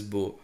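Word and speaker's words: beaux: so don't read like that here it is bo another uh as we pronounce here also it is bo but the difference is here this is singular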